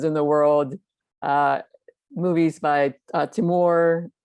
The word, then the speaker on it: Timur: Movies by Timur. How do you pronounce his name? I can't pronounce his name. Timur, it's perfect.